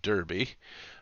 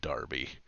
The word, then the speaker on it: Derby: workshop factory in derbyshire specifically in derby uh which i think actually is pronounced darby uh but uh uh